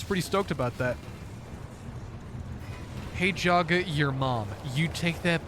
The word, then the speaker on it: Jagga: having everybody call me Yaga instead of Jagga. And I'm gonna be really, really mad if you all call me Yaga. The correct pronunciation is Jagga.